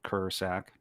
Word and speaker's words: Krsak: name is so my last name uh is spelled k-r-s-a-k it's kind of confusing it's spelled ker sack so uh walks